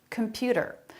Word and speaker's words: computer: did with him computer computer they're all saying that with a flap computer a flap instead of a t sound computer computer middle syllable